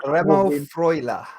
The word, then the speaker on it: Remo Freuler: Remo Freuler. Remo Freuler. That's the way. I apologize. Just put a German accent on, and it makes it sound like you're saying it right.